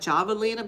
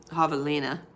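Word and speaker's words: javelina: It's spelled with a J like Javalina, but if it's Spanish, like most words are in the Southwest, it would be Havalina.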